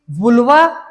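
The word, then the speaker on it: vulva: लिए मिलेगा external genitalia, जिसको कि वुल्वा या वल्वा जो बोलो, प्रोनाउंसिएशन जो जैसा करना चाहो कर सकते हो, जिसको जैसा सुटेबल लगे, वल्वा बोलो या वुल्वा बोलो।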